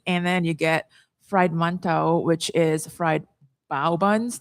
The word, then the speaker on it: mantou: And that's the manto. Mantou. Manto. Yeah. Depends on how you want to pronounce it.